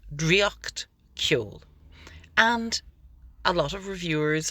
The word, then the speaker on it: Draíocht Ceoil: One thing that's been happening, and I actually find this really wonderful in a way, the title is obviously in Irish. It's Dree-ocht Kyohl.